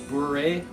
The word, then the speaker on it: bourrée: Like that instrumental bourrée, that's how you pronounce it.